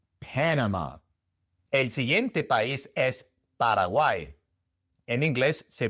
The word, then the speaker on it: Paraguay: Y la última A también es como una E. Paraguay. En lugar de Paraguay es Paraguay. Después tenemos Perú.